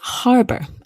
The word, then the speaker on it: harbor: The next word I think is interesting is harbor. Again, here there's no um arguments about this. You must pronounce the H.